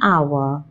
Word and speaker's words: hour: For words like honor, honest, and hour, where the H is silent, we use an.